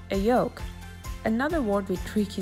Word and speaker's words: yoke: All of our planes either have a control stick or another tool called a yoke. Another word with tricky spelling. Sounds like egg yolk, but it's spelled Y-O-K-E, and it does not come with bacon.